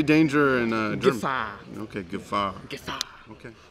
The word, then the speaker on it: Gefahr: Gefahr. Okay, Gefahr. Gefahr. Okay. Like Jafar from Aladdin.